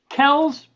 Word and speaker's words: Kells: I want to introduce my friend Gerald Kells. Am I pronouncing that correctly, sir?